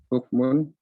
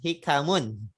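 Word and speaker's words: حِكَم: Ya, bukan hukum di sini. Tapi dibacanya hikamun. Ya, min fisyami hikamun wa fawaidun katsiratun. Ya. Kalau hukum itu betul artinya hukum, tapi kalau hikam itu adalah jamak dari hikmah.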